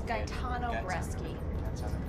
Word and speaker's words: Gaetano Bresci: It's Gaetano Bresci.